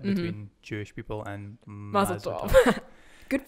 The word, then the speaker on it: Mazel Tov: Jewish people and Mazel Tov. Good pronunciation, by the way.